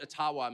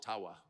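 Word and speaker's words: Ottawa: but thank you and I I called it atawa many many times and I would get these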